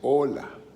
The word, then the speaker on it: hola: la h en español porque no tiene sonido no se pronuncia en español h por eso empieza la palabra con o así es que es hola en español es hola